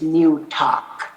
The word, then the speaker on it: Newtok: of new york and and the english term or in its pronunciation is new talk so uh new talk